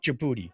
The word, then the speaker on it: Djibouti: It's like Djibouti. Starts with a D. Yeah, the D is silent.